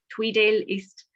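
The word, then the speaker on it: Tweeddale East: In 2012, Stuart was elected to represent his constituents and the SNP as Scottish Borders Councillor for the ward of Tweedale East. Have I pronounced that right, Stuart?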